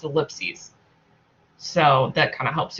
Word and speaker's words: ellipses: So the plural is with an ES, and it's pronounced ellipses or ellipsis if you want to pronounce that, but that's where the confusion comes from, is writing the wrong word.